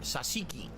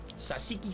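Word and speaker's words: tzatziki: no surprise that you like this food it's pronounced sasiki sasiki sauce the yogurt cucumber sauce mmm oh that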